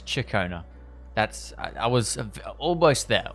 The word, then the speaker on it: Ciaccona: Not Shakona, it's Chicona.